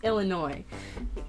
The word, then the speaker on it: Illinois: I'm not even supposed to pronounce the S. It's Illinois. But yeah.